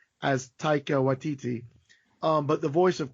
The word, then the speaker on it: Taika: Taika, yeah. Taika.